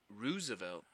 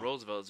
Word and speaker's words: Roosevelt: I think it's pronounced Roosevelt. It's not No. Roosevelt.